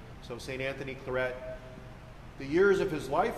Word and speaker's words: Claret: founded by saint anthony claret and that's how you pronounce his name he's not french he's a catalan spaniard so saint anthony claret the years of his